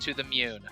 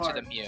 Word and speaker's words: To the Moon: to to the moon it's pronounced to the moon I I I was thinking of Pokemon so I've only seen that word read that that word you know in print before so I don't really know how to pronounce it I'm pretty sure it's to the MU I had Pokemon on the brain so I was thinking to the Mew like that's not no